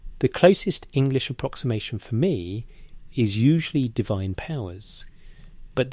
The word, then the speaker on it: me: The word is me. It is pronounced as a single syllable roughly like may, and it appears across hundreds of cuneiform tablets spanning more than 2,000 years of Mesopotamian writing.